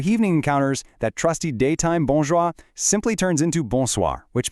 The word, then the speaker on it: bonjour: It's not bonjour with a hard, sharp English R at the end. Actually, scratch that hard R entirely. It's bonjour with a very soft, almost silent R.